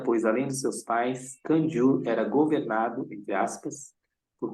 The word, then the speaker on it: Kangyur: Seu nome, Kanjur, pronuncia-se Kanjur, é o mesmo dado à coleção das escrituras sagradas que contém os ensinamentos de Buda.